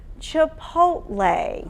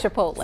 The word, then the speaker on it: Chipotle: All right, so the correct pronunciation is Chipotle.